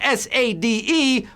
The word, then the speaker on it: Sade: It's spelled S-A-D-E, but it's pronounced Sade.